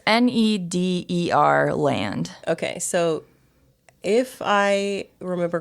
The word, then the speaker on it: Nederland: journey a guest it's n-e-d-e-r land okay so if i remember correctly the netherlands is pronounced nederland if you say it like correctly so that's probably something